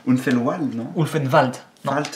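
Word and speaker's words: Ulvenwald: Ulfenwald. Ulfenwald, non? Ulfenwald. Non, le W c'est V et le V c'est F.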